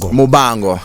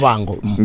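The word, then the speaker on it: Muvhango: Not Muvango. Yeah. Leo. Not Bava. Right. Umvenda. No, but I mean, you're an African, so you should be able to pronounce it correctly. Right. It's Muvango. Yeah, born.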